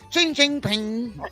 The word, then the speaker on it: Xi Jinping: Unfortunately, how did you say his name so Chinese sounding? Xi Jinping. It's Xi Jinping.